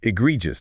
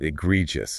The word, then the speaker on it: egregious: safety put everyone at risk yeah and it's pronounced egregious not egregious that's a great Point got to get that